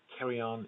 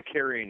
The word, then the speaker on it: Carrion: It's the Carrion Eaters, correct? Is that not how you pronounce it? Carrion. Yeah. Yep. The Carrion Eaters.